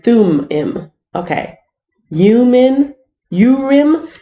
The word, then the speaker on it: Thummim: this uh Bible dictionary Orem and sulaiman oh I'm pronouncing it wrong is your room your room and through him okay you men you